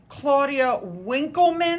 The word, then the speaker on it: Claudia Winkleman: Claudia Winkleman, I believe is how you say her name, was seen leaving there, as was Piers Morgan.